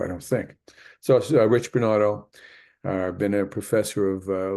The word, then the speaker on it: Bernato: sometimes I know it sounds like that it's bernato or bernado if you want to use that pronunciation although that's not a correct from an Italian's person perspective I don't think so rich bernado uh a professor of uh leadership and education